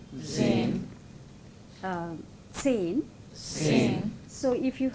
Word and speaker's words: zehn: zehn, Zehn. zehn. Zehn. So if you have this letter, the pronunciation has to be like this. Yeah, like we say tsunami, no? Tsunami.